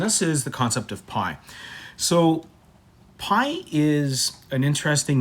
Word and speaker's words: pi: We use the Greek letter pi, pronounced pi, to represent this value.